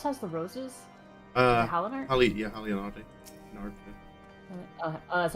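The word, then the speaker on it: Halone: Halon. Oh, that's how you say it. I don't I maybe I don't know if it's ever voiced. Yeah, me either. That's kind of why I just said Haler cuz it's easier to say.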